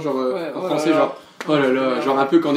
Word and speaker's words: oh là là: Oh là là. Oh là là, prononcé. Comme une américaine, on dit oulala.